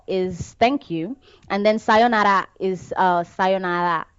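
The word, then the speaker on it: さようなら: Arigato is thank you, and then sayonara is sayonara. You're supposed to not pronounce the R completely, but sayonara is bye bye.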